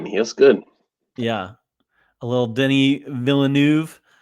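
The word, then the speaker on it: Denis Villeneuve: good yeah a little Denny villanu that's how you s say his name by the way not not Dennis well I've been watching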